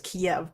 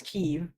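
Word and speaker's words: Kyiv: Like I think he still says Kiev, but I know it's Kev.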